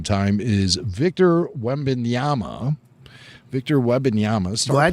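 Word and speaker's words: Wembanyama: Victor Webbyama star. Glad you said that first. Now I know how to say it. Star play. Well, it is kind of like how it's spelled. Wetyama.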